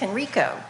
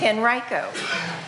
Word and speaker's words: Henrico: I pronounce everyone's name because everybody says it's Henrico no it's Henrico I know all of